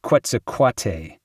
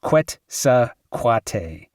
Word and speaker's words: Quetzalcoatl: "Hey, Alex, you mispronounced Quetzalcoatl. It goes Quetzalcoatl. Like coyote goes coyote.